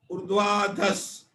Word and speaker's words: ऊर्ध्वाधस: उच्चारण में ऊर्ध्वाधस जो आधा स है उसको ध के साथ में बोलना है।